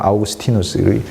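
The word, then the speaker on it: Augustinus: 그래서 아우를 영어로 하면 발음이 나니까 어거스틴이라고 이제 하고, 원래 라틴어식으로 하면 아우구스티누스.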